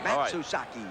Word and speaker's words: Matsuzaki: matak how do you say that mataki suzaki matsuzaki now they'll go for the two-point on this